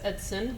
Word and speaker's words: Edson: The Gray Ghost is a nickname for the USS Edson, which is a historic naval destroyer ship that is docked in Bay City. Okay. Edson. I thought it was Edison. I was saying it wrong.